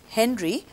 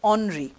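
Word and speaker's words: Henri: at that time now in english we will pronounce this as henry but in french they pronounce this as onri henry navan you must have heard of henry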